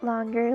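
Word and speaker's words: 龍: Long. It's Cantonese. Long. In Mandarin, it's pronounced long.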